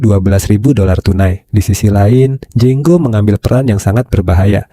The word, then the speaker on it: Django: Django. Can you spell? D-J-A. The D is silent.